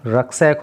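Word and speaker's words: rucksack: 3 रक्सैक, इसका जो pronunciation होता है ना, रक्सैक होता है।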